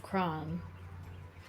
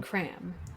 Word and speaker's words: Crom: However, someone who may have more information for you would most likely be in the capital city of Crom. Or, I'm sorry, how they pronounce it, Cram.